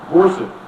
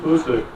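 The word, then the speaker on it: Boucq: After 6 months of training, the division headquarters was relocated to the town of Bousek, that's spelled B-O-U-C-Q, 34 miles south of Verdun.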